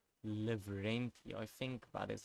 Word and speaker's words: Lavrenti: It's gonna annoy me if I didn't pronounce his name correct. Lavrenti, I think that is how you pronounce it.